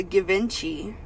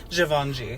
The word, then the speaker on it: Givenchy: Why, it's a Givenchy. Givenchy.